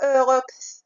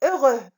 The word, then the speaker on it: heureux: Les lettres muettes ici, c'est H et X. On ne dit pas heureux, on dit heureux.